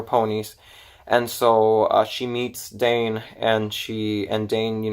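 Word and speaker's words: Daine: this girl called Diane I kept pronouncing her name is no actually I'm wrong her name is Dane I kept pronouncing it as Diane for some reason I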